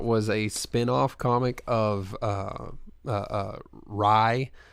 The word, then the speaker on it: Rai: And in fairness, Bloodshot was a spin-off comic of Rye, which they mispronounce Ray, you know, just because that's a thing that they do, you know.